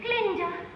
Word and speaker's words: Glinda: Glinda, the guard is silent.